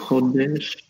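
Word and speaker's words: קודש: First pronounce it again, and then try to guess maybe. Kodesh. Maybe you've heard it. Hmm? Kodesh? Mm-hmm. Kodesh.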